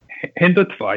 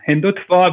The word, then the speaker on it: Hindutva: this Rising you say hindutva how do you pronounce this fanatical Hinduism hindutva yeah hindutva which is Hindu nationalism has taken over the